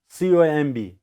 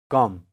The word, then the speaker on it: comb: See, ba sound is silent here. Ba. Ba is not pronounced. Okay. So, come only, not comb.